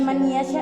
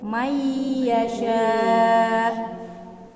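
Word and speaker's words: من يشاء: Jadi bukan man yasha ya. Mayyasha. Ada hukum? Nun bertemu dengan ya. Apa namanya? Dibaca melebur. Idgham. Idgham bi gunnah. Cara bacanya? Melebur dan Apanya yang melebur? nun dan ya. Nun ke ya. Nun. Ke ya. Nunnya yang melebur, jangan dua. Mayyasha. Ya, ini yang mendengung. Ini yang melebur.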